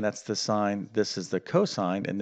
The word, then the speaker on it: sine: okay so the first one is called we pronounce this not sin okay uh somebody you're like it's a sin to do math no no no this is called sign right and actually we spell out the full